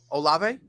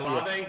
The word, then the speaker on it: Olave: Olave. Yeah, Olave. That's Olave, because I remember I say it wrong to spite y'all.